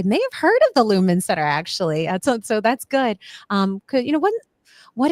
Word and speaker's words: Lumen Center: Is it the Lumen Center? Did I pronounce it correctly? Yep. The Lumen Center, we're located in Bryn Mawr.